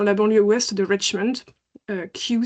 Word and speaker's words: Kew: Kew, ça s'écrit K-E-W pour ceux qui ne connaîtraient pas. Je le dis parce que en fait, quand on ne connaît pas, ça fait bizarre d'entendre Kew.